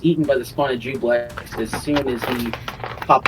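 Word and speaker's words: Juiblex: Jubilex.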